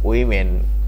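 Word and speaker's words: women: কিন্তু ওম্যান হবে আর ডব্লিউ ও এম ই এন উচ্চারণ যদি থাকে তাহলে হবে উইমেন এখানে হবে ওম্যান the younger ওম্যান carried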